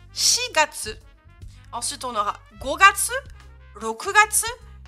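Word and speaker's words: 四月: Le quatrième mois est irrégulier, ici ça va se prononcer Shigatsu.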